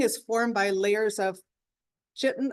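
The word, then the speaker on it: chitin: formed by layers of chitten I believe it's pronounced chitten A protein that makes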